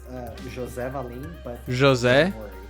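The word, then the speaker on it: José Valim: your name terribly do you mind correcting my pronunciation quick uh it's uh Jose valim but Jose Jose valim Jose valim that's as close as I'm going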